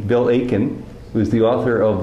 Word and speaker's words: Aitken: very good to be talking with bill aiken you don't pronounce the t in his name bill aiken who is the author